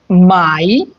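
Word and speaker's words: Mai: যেমন মাই যদি কোন শব্দে এ এবং আই একসাথে থাকে তখন ওটাকে আই এর মত উচ্চারণ হয়।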